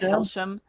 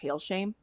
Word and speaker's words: Hailsham: I always said Hsham in my head, but then I listened to a bunch of interviews and everybody said said Hailshame.